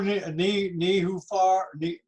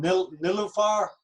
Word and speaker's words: Nilufar: Hello, Nihufar, I'm sorry to get your name wrong. Nilufar.